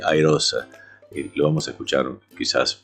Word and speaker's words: iROSA: En inglés se dice Irosa.